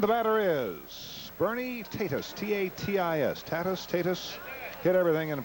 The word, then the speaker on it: Tatis: And the batter is Bernie Tatis, T-A-T-I-S. Tatis. Hit everything and pronounced it right once, 1 out of 3 times.